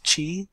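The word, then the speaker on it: チー: In Japanese it's chi, and in Japanese pong is pon.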